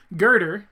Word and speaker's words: Goethe: Goethe, as it is pronounced, is a legendary poet, writer, philosopher, scientist, architect, physiologist, botanist, psychologist.